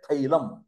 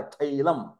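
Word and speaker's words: തൈലം: वाला जो शब्द है तो तैल नहीं बोलते वो क्या बोलते हैं थैलम टी एच ए आई थैलम थैलम का मतलब तैल महाराष्ट्र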